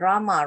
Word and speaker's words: Rama: of great mantra and rama rhymes with drama or sanskrit words hare